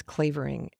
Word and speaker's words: Clavering: said the clavering clavering it's not flavoring it's clavering the way that the american pronounces it i'm not sure how